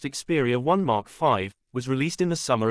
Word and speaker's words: Xperia 1 V: channel for future updates the Sony Xperia 1 volt pronounced xeria 1 Mark 5 was released in the